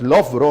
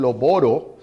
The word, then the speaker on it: Loughborough: La pronunciación de la palabra es Loughborough, aunque algunos le dicen Loboro. Esa es la mala pronunciación, es Loughborough.